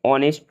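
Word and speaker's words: honest: बिल्कुल ध्यान से सुनना, जिन शब्दों में एच साइलेंट रहता है उनसे पहले एन का प्रयोग होता है। For example, an hour, an ऑनेस्ट मैन, N honourable man, an year.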